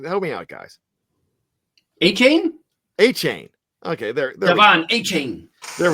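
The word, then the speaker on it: Achane: On the ground, Devon Ashani, I never know how to pronounce it. Help me out, guys. A-Chain? A-Chain.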